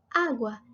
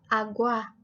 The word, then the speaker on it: agua: Tónica significa la sílaba más fuerte. Como agua, decimos agua y no agua. Agua. Entonces, esta sería la sílaba tónica de la palabra.